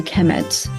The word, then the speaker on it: Kemet: uh it will be the noun will be pronounced a kemet.